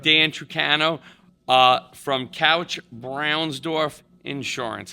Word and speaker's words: Braunsdorf: We have Dan Trano uh from Couch Brownsorf Insurance.